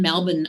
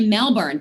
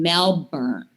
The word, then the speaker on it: Melbourne: And it's kind of like when I was actually in Melbourne, Australia, and they don't say Melbourne.